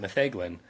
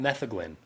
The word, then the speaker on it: metheglin: You pronounce it metheglin. What about metheglin? Or is that a poor pronunciation of it? Or doesn't matter? Honestly, I do not know enough Welsh to tell you which would be correct with Welsh. What I do know is in the modern day, people pronounce it both ways.